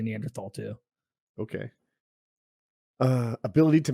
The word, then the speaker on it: Neanderthal: Yeah, it's supposed to be Neanderthal, but they shouldn't have thrown that H in there if they wanted people to say it right. That's how it That's how it is. It's It's standard tall.